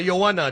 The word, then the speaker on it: Joanna: Yeah, Joanna. That's how we pronounce it.